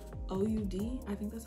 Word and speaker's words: oud: It's also, if you are familiar with like oud, OUD, I think that's how you say it, oud, which is a very rich, very deep scent.